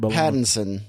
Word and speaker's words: Pattinson: now you got all the the ends robert pattinson there you go it feels the same he